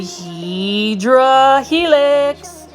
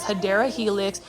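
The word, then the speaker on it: Hedera helix: here we have a HRA helix or the correct way to say it is hadera Helix um English ivy this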